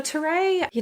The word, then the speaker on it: Terrae: Terrae. That's okay. Collective. Terrae. Yeah. So tell us all about Terrae Collective because your product really is beautiful. Oh, thanks. Yeah. So Terrae, just kind of continuing on from my meditation